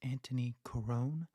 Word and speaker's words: Antoni Corone: host Justin YZ and today my guest is Anthony Corone this is part one he is an actor